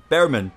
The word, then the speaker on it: Bearman: It's Oliver Bearman.